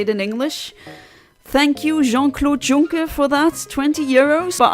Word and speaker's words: Jean-Claude Juncker: For those of you unaware, Jean-Claude Juncker, that's how you pronounce his name, was once Prime Minister of Luxembourg.